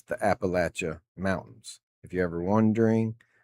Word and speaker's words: Appalachia: But it's the Appalachia Mountains. If you're ever wondering uh how it's pronounced, it's Apple, but you got to kind of put a little pause in the L E at the end there.